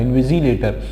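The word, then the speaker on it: invigilator: सी नहीं होता है, इनविजिलेटर। और उसको पढ़ते साउंड उसका स का आता है, लेकिन स्पेलिंग जो अल्फाबेट है वो जी आता है।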